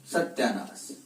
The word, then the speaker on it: सत्यानाश: सत्य का उच्चारण क्या हुआ, सत्या हुआ, सत्यानाश।